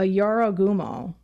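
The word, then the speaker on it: Jorōgumo: of a better term a yarogumo j-o-r-o-g-u-m-o a yaro gumo i believe is how you pronounce it it's a deadly spider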